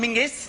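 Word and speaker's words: Menzies: John menes apparently go let's go to John mingis they what Martina Hingis Martina henis why are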